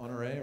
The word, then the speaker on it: Honoré: Anybody see the op-ed in the New York Times either today or the other day by General Honoré, right? Yeah. Is that how you pronounce his name?